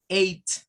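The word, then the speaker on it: eight: función Entonces por ejemplo para decir el número 8 en inglés tenemos que usar el sonido Ey y el sonido de una letra T age nada de andarse complicando verdad con querer hacer pronunciar el gh porque yo he escuchado algunos estudiantes cuando no saben esto vienen y leen el número 8 como quieren hacer el gh y no no se hace pues eso lo va a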